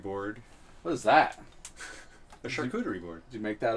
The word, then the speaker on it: charcuterie: what is that a charcuterie board did you make that up no it's a real thing it just sounds like the word shark I think it's a